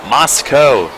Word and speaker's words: Moscow: We have confirmation on the pronunciation of his hometown in Idaho. It's Moscow coming from Cindy Scolion who's listening in the stands tonight.